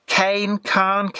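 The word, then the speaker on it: Caen: In the previous batch, Kane, I think it's spelt C-A-E-N, was presented in a kind of chocolatey brown colour.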